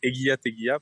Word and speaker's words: Egia Tegia: Et donc, déjà, on va commencer avec Egia Tegia, parce que ça se prononce comme ça en bas.